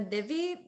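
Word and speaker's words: दिवि: In the Divi, the Di is lower swara.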